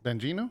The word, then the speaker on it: Bongino: How do you pronounce his last name? Bongino.